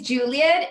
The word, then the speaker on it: Julieth: uh my name is juliet and if you see an age it's a silent age i'm from colombia so the age is silent uh i'm a queer